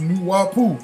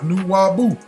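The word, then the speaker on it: Nuwaubu: Nuwabu is pronounced Nuwabu, not Nuwabu.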